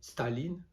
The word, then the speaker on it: Staline: camarade staline avec l'accent tony chard la première syllabe staline pour notre enfance heureuse or le prénom du